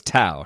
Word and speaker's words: Tow: Okay, so it's Tao, not Toe. Yes, it's Tao.